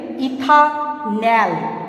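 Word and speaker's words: ethanol: जिसका IUPAC name है इथानैल। ये है इथानॉल ऑल और ये है इथानैल एल। तो pronunciation is very important for IUPAC।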